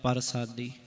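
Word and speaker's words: ਪਰਸਾਦਿ: गुर प्रसादी नदर निहारा इथे न शब्द पूरा लिख्या है परसादी ते जी रारा पैर च ं ते इदा उच्चारण प्रसादी हो जाना सी सर्ब जिया को इथे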